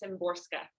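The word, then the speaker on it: Szymborska: to pronounce her name i think the z is silent i think it's simborska with slavas and borska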